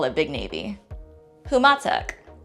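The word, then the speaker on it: Humåtak: Humatak. Humatak. This can also be pronounced as Umatic.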